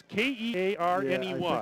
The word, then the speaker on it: Kearney: nathan cotter from uh is it kearney nebraska carney or kearny um it's k-e-a-r-n-e-y it's pronounced kearney nebraska it says go cards